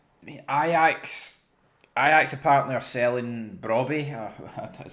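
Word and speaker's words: Brobbey: and oh well Ajax Ajax apparently are selling Brabby is how you pronounce it to Sunderland for 26 million.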